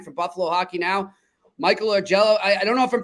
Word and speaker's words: Augello: ask our man for Buffalo hockey now Michael or Jello I don't know if I'm pronouncing your name right no you got it